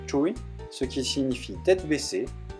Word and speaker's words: chuối: La banane et l'ananas sont très tabous dans le sud, parce que la banane se prononce chuy, ce qui signifie tête